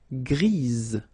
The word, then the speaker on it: grise: for the feminine form, grise. Remember? Grise. Alright? So when you add this E, basically it gives you the pronunciation or the possibility to pronounce the previous letter here. It's Z. Grise.